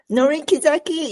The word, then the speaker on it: Norie Kizaki: Norie Kizaki, yes, and Norie Kizaki is correct pronunciation in Japanese.